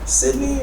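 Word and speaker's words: Cydnee: meet you how's everyone doing my name is Sydney I'm gonna spell it for you it's really easy it's not okay c y d n e e space a l y x z a n Sydney also if you follow me on IG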